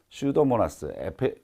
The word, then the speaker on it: 슈도모나스: 자, 여기 처음에 나오는 균이 슈도모나스 플로레센스가 있는데 슈도모나스 앞에 있는 P는 묵음이에요.